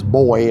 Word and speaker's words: Boi: Well, we learned that the pronunciation is Boi, like B-O-I, but it's B-O-I.